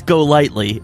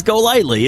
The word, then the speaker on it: Golightly: It's Golightly." And they're like, "Oh, I almost had it." And I'm like, but it is. They pronounce it's just like it sounds. It's just like it looks. It's Golightly, and so it's so funny.